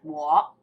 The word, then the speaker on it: 我: Is the pronunciation correct? Yeah. And me or I is 我.